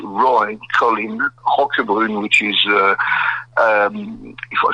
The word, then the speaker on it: Roquebrune: So it's Roy Colin Roquebrune, which is, if I spell it, ROQUEBRUNE.